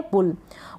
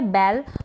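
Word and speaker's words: bull: आप बी यू लिखेंगे और पढ़ेंगे भी बुल पढ़ेंगे। बल नहीं पढ़ेंगे इसको। क्या नहीं पढ़ेंगे? बल।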